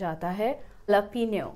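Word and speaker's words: jalapeño: on it, It is written as jalapeno but pronounced as hah-luh-PEEN-yo There is very missleading, why? when it starts with J then why to pronounce with H but it is pronounced so , we cannot help it. The pronunciation is hah-luh-PEEN-yo Perfect!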